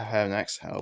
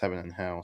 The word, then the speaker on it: Heaven x Hell: I used to call it Heaven X Hell, but it's supposed to be pronounced Heaven and Hell, so yeah.